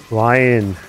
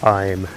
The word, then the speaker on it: Lion: designed to be pronounced lion not lime yes but yes lion